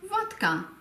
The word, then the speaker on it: Wodka: Zum Unterschied von Wodka. Wodka. Hier liegt die Betonung auf dem O und daher wird es auch als solches ausgesprochen.